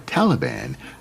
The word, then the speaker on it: Taliban: america these students or taliban as it's pronounced in the pashtu language became prominent in the